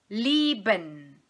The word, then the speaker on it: lieben: Em relação à pronúncia, nós vamos entonar a primeira sílaba desta palavra e o IE nós vamos pronunciar com som de I apenas, certo?